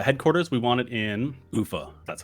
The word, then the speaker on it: Ufa: okay so uh headquarters we want it in Ufa that's how you pronounce it so just in the URLs this